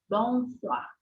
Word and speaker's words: bonsoir: últimos quadrinhos tá bonar bonsoir bonsoir preste atenção que a pronúncia é u a u a a pronúncia do o i uma pronúncia de o a o a bonar bonar esse